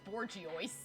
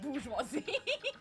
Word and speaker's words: bourgeoisie: my favorite word is pronounced wrong on purpose is borgiois instead of bourgeoisie that is horrible okay